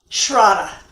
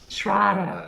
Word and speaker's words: Shraddha: Shraddha. Shraddha, thanks. Okay, Rhymes with Prada.